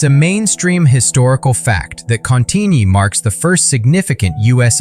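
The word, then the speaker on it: Cantigny: It's a mainstream historical fact that Contini marks the first significant US offensive operation of World War I. But the quirky tidbit, many Americans mispronounced it as canigigny, prompting French officers to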